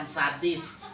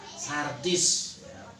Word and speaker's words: Sardis: Sardis ya, bukan sadis, Sardis. Ketika kita baca, ini juga tertuju for orang, for kehidupan kita dewasa ini. Kalau Sardis itu dalam peta, yang